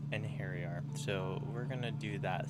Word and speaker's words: Einherjar: Okay, it says Einherjar. Einherjar. So it's a hairy R. Einherjar.